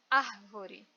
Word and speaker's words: árvore: Eu tenho a última, da direita para a esquerda, última, que é o RE, penúltima, VO, e a antepenúltima, que é AR. Esse AR é a sílaba mais forte e ainda mais não me deixa dúvida porque ela está acentuada.